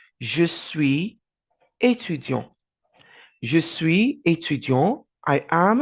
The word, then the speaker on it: étudiant: étudiant and you have étudiante. So you can say, je suis étudiante. For a female, je suis étudiante. But for a male, the T is silent. Je suis étudiant.